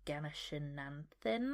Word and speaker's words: Ganeshananthan: But the 6 shortlisted books are The Wren by Anne Enright, Brotherless Night by Vivi Ganeshananthan, I think is how you pronounce her surname, Restless Dolly Maunder by